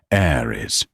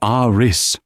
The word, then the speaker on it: Aris: "Aris Thorne," she said, mispronouncing the first name as Aries. "It's Aris," Aris corrected, softly, politely.